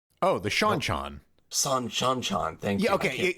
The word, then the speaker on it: Seanchan: 2 decades, which is Senchan. Oh, the Seanchan. Seanchan. Thank you. Yeah, okay. It's because it's Cean as in Sean.